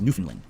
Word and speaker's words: Newfoundland: The only part of Canada I've ever been to is Newfoundland, which is actually pronounced Newfoundland.